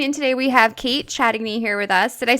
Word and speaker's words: Chatigny: So, everyone out there listening in today, we have Kate Chatigny here with us. Did I say your last name right? close, it's Chatigny. Chatney. Okay, so the G is like silent.